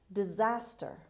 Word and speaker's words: disaster: as word number seven disaster disaster disaster the stress is on z on the second syllable an event that causes